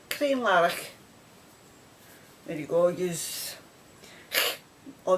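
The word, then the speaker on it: Crianlarich: i n l a r i c h clean laric there you go use or maybe like and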